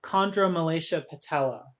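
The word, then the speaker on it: Chondromalacia Patella: your favorite yes and it's black midi uh chondra malaysia patella that's how you pronounce it yes did you have to like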